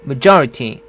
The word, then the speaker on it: majority: 발음은 조를 강하게 해서 majority 이렇게 하면 됩니다.